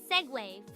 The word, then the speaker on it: segue: It's pronounced segue, full segue.